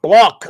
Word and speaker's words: Bloch: He says it's Robert Bloch. I've always said Bloch, but I mean, maybe he pronounces that way.